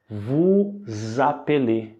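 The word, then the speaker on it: vous appelez: e a palavra apelê por conta do fato que a palavra seguinte começa com vogal a pronúncia ela se conecta Ok portanto a pronúncia ali é vu zapelê Ok e lembrando a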